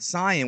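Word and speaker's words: Saiyan: said I noticed that you said the word Canan which is the correct pronunciation of of Sayan so that means that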